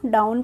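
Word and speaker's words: down: सी प Boeing डाउन अब डॉन नहीं पढ़ेंगे इसको डाउन पढ़ेंगे यहां पर बिफोर दैट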